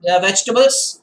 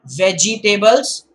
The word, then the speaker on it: vegetables: a garden and soon vegetables not veggie tables vegetables and father went to